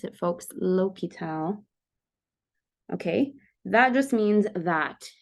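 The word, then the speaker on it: L'Hôpital: Plus 1 over 2x is indeterminate we use l'hopital and that is how you pronounce it folks l'hopital okay that just means that if we have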